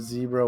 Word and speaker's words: zebra: No, it is zebra with the short E.